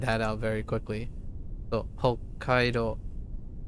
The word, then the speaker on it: Hokkaido: So Hokkaido. Anytime there's a double consonant, one of them is silent.